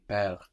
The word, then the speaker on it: perdre: If you put more accent on the bit at the beginning, perdre, and let the rest kind of fall out, I think you will find the pronunciation easier. Because it is hard now. You have this D-R-E kind of gets all sucked in together.